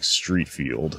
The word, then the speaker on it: Streatfield: a guy named Dominic Streatfield, spelled S-T-R-E-A-T, F-E-I-L-D. It's very confusing, his last name. Cocaine name. Yeah. Street, not spelled like street. Field, not spelled like field.